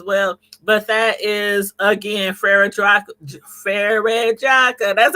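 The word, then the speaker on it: Frère Jacques: But that is again Frere Jaques.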